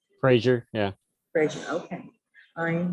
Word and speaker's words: Frazier: am I pronouncing your last name correctly? Frazier, yeah.